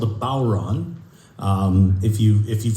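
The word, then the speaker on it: bodhrán: pronounce it um and I've I've heard it pronounced a few different ways but most often and most by by people that seem to know who what they're talking about it's called a balron uh or or Boron um but it's spelled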